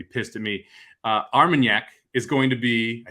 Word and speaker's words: Armagnac: up for doppelganger and you absolutely nailed the the pronunciation each time it is armagnac thanks to our friend